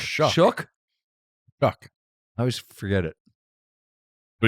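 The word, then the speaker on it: Shough: In New Orleans, like Rattler or Schlock, how you say his name? Shook.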